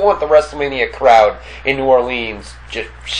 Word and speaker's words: New Orleans: it what do you how do you say some people say I say New Orleans New Orleans but New Orleans makes more sense cuz that's how it's spelled Orleans and some people say